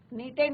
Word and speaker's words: knitted: नीटेड means यहाँ पे के साइलेंट, नीटेड, क्लियर।